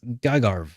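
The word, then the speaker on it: Gagharv: So I would have said Gaghov. Yeah. Oh, yeah. Yeah, you're right. There's no first R. It's Gagarv.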